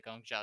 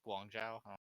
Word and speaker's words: Guangzhou: Spitfire the sole dynasty the Gong Joe charge I pronounce that wrong if they believe it's Guangzhou Philadelphia fusion Shanghai dragons and